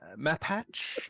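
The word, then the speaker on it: Mapach: So he's a map hatch.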